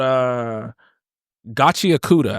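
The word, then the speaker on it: Gachiakuta: It's called Gachi Akuda, I believe is how you pronounce it.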